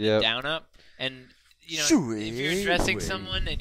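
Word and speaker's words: 水: Shui. Shui. Yeah, it's like the third tone. You got to go down and up.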